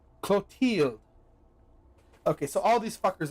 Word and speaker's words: Clotilde: Clothilde? Clothilde. Clothilde. Clothilde. Clothilde. Clothilde. Pronunciation. Clotilde.